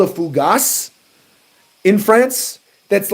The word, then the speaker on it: fougasse: It's a fugazi. I don't think it's called fugazi. I think it's like a fougasse.